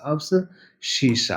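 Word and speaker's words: abscissa: तो अब्स बोलते हैं ए बी एस अब्स शीशा अब्सशी बोला जाता है है ना स्पेलिंग पर नहीं जाना है मैं बार-बार बोल देता हूं स्पेलिंग का आप थोड़ा ख्याल करेंगे।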